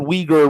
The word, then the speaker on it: Uyghur: Okay, we know that the word Uyghur rhymes with a certain N word in the Western world.